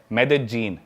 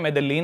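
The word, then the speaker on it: Medellín: उसकी एक सिटी है मेदजीन स्पेलिंग में उसमें डबल एल आता है मेदलीन होता है लेकिन कोलंबियन स्पैनिश में ल को ज बोलते हैं तो मेदजीन वो शायद उसकी मेन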